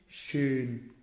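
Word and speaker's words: schön: بنطق حرف الاي الاول وبعد كده بضم ضمة بسيطة اللي هو بنطق حرف الاو، فيبقى اي او، فيجي ورا بعضه يبقى اي اي.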